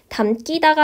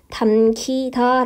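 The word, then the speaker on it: 담기다: 있는 키 이기 때문에 담 뛰다가 아니라 발음은 어떻게 해주면 되는거예요 된소리로 하지 않고 담 치다 라고 발음 해주면 되는 거죠 에서 피동 사동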